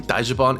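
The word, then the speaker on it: ダッジバン: The name Daijivon is based on the Japanese pronunciation of Dodge van, because that's exactly what this subculture revolves around.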